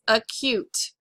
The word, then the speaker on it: acute: And notice this doesn't follow our pronunciation of that first of the open syllable saying A. It's not acute.